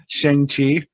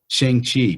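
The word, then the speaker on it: Shang-Chi: ShangChi. ShangChi.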